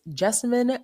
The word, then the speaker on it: Jessamyn: myself and that is Jessimine rhymes with specimen but with a J.